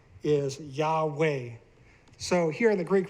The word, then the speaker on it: Yahweh: These form the name Yahweh when you sound them out. Yahweh, Yahweh. So if you sound them out, you get Yahweh according to scholarship and according to, we can even look at the sounds ourselves.